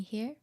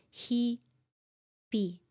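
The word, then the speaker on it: 日々: 連絡 is happening here meaning that we don't say he but we say he be okay the next one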